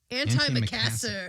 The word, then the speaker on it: antimacassar: How do you pronounce it? Antimacassar.